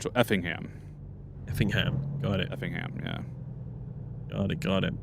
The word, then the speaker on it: Effingham: Effingham. Effingham, yeah. Effingham. Like the the um What's it called? Like the the strong part of the word, it's uh the first part. So, Effingham. Effingham. Got it. Effingham, yeah.